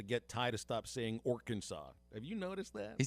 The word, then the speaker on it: Arkansas: it's not gonna do that it's arkansas not our kansas right like you can't